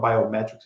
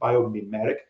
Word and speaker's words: biomimetic: It's not biometrics. It's biomimetic.